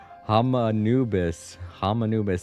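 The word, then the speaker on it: Hermanubis: Hamanubis. It's like Anubis, but with Ham at the beginning of it.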